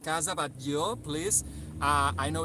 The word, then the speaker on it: Batlló: it's Catalan. People might say Casa Batlló, Casa Batlló. Well, Casa Batlló, Casa means house, How so do it you was pronounce it? in Catalan Batlló.